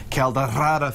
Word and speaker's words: Caldeirada: Today she's making, and you told me the correct pronunciation. I'm going to try it here. Caldeirada fish stew. Oh, pretty good there, buddy. Yeah, thank you. Caldeirada, yes.